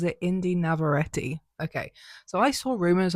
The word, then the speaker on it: Indy Navarrete: Okay, so she pronounces it Indy Navarrete.